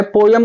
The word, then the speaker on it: poem: द पोयम, कुछ बच्चों इसकी रियल प्रोनाउंसिएशन है, पोयम को पोम भी बोल सकते हैं, तो प्रोनाउंसिएशन भी आप पोयम बोलिए या पोम बोलिए, दोनों राइट है।